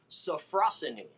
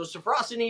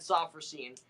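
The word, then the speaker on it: sophrosyne: scene is a Greek word it's actually properly pronounced safrussani so Safra city is the proper pronunciation but I've always said softer scenes it is a Greek word that means a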